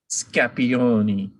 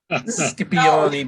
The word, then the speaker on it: Scipioni: signage, it would be Scapioni, right? I didn't say it right. Scipioni Boutique. Scipioni. Scipioni. So if it were Scipioni's, you know, that letters. Scipioni, like prosciutto. Oh, right. Exactly like prosciutto.